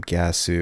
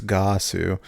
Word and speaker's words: Ggahsoo: It's not Ggahsoo. It's Ggahsoo.